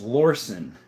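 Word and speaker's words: Lorcin: It's actually pronounced Lorson was my first gun at like 13.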